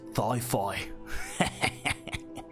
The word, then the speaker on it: Thi-Fi: Thigh, as in your thigh, Oh. and then phi. Hyphen phi.